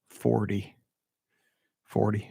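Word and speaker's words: forty: you go west on highway party that's how you say in st louis i'm not kidding i don't say it like that 40 40 but it's a car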